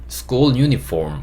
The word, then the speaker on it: uniform: 근데 유니폼 이게 아니고 유니폼, 폼 이렇게 하셔야 돼요. F 발음이기 때문에 school uniform, school uniform 이렇게 F와 R 발음이 좀 들어가셔야 되는데 발음하기 어려우시면 school uniform, form, F 발음이라도 조금 넣어주시면 좋을 것 같아요.